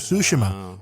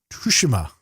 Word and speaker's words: Tsushima: the Year, and instead Ghost of Tsushima or Tsushima, depending on which voice actor is pronouncing it, won Game of the Year.